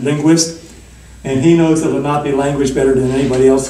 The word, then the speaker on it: Lenape: But he taught me how to say Lenape correctly, and so I have to say it correctly because I learned it right. Okay, but Lenny Lenape is not what they say in the tribes themselves.